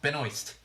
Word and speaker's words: Benoist: Thank You Bridget thank you I'm doing wrong Benoist and this is why I'm always running around